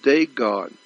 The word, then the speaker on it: Dagon: It's called the Pope's mitre, but it's actually the head of Dagon. Again, it's spelled D-O-G-A-N, D-A-G-O-N, D-A-G-O-N, Dagon.